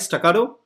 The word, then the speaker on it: Staccato: saying this staccato band is coming have i pronounced it right staccato yes perspective right okay just wanted to check